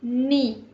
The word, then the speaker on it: knee: So the first one is knee. So the knee has silent K.